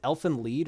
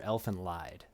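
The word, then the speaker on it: Elfen Lied: would be uh uh is it elfin lead or elephant lied i think it's a lot lead it's i believe needed the current correct pronunciation everyone says lied i've cause i've always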